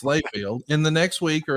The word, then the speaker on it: Layfield: To be clear, you had just turned 31, and we know that your name is not Hayfield, it's Layfield.